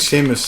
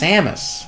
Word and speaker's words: Samus: guide I don't think Sheamus I don't know who Sheamus is you always say Sheamus whatever her name is Sheamus Samus Samus I'm sorry s m u s